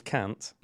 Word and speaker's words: Kant: Right, Ofcom, you can't say anything because his last name's Kant. I'm just saying Kant, all right? So his name's K-A-N-T, which is exactly how I pronounce that.